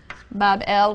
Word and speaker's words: Babylon: So the grateful gods now recognize the sovereignty of Marduk, and they build him a magnificent shrine or temple in Babylon, pronounced Bab-El, which simply means gateway of the god, the gate of the god.